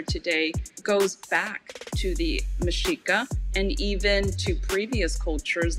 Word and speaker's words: Mexica: but the aztecs actually called themselves the mashika and i say mishika and it's actually spelled